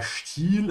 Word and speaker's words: Stil: Der Stil is a style. I'm just gonna add it for you to practice how to pronounce it. Ja, esti ist st, Stil.